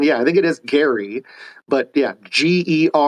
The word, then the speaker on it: Gerry: I know that Jerry, which is how most of us pronounce it, is correctly pronounced Gary.